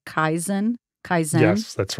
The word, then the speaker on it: Kaizen: It's this concept called, and tell me if I'm pronouncing this right, Kaizen. Kaizen.